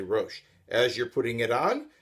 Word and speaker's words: rosh: or a lot of the boxes just say rosh as you're putting it on you're saying the second blessing proper hebrew pronunciation that is a blessing simply saying thank